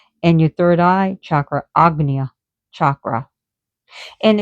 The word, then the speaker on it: Ajna: So you have the third eye, but it's spelled Ajna, but it's pronounced Agna.